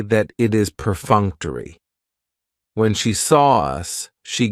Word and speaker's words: perfunctory: cool word perfunctory perun has four syllables and the stress is on that second syllable that funk perfunctory that third syllable has the schah and it's going to end with that long e sound perfunctory perfunctory if something